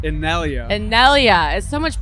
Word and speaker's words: Innellea: one of the most anticipated artists of seismic in yellow did I say it right almost I've been